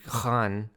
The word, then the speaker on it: Khan: I know how to pronounce his name, even though it's technically Khan, not Khan, but I fuck it up all the time.